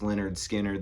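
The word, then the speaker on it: Lynyrd Skynyrd: Everybody always talks about pronounced Leonard Skard, the first album, and you know, Street Survivors and Second Helping. I really like Give Me Back My Bullets. This is where Skinnard to me sounds the most like the Rolling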